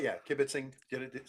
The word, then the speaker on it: kibitzing: What what I love is you said yeah kibbiting did it said it perfectly.